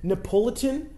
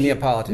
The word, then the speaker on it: Neapolitan: Oh my god, the Napolitan. Is that how you pronounce it? Neapolitan, yes. Neapolitan.